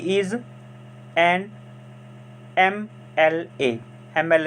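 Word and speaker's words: MLA: Next is when we pronounce M एल ए, इट हैज़ अ vowel sound in the beginning.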